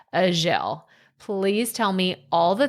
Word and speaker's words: Azhelle: I have to tell you, it's Azhelle. I'm sorry. Azhelle. No, that's fine. That's fine. I usually ask people exactly how they pronounce their name too. And I did not do that. So Azhelle. Yes, Azhelle. Okay.